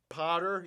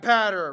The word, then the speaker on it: Patter: we've been through this okay so it's it's like ladder but pat patter right patter patter right better better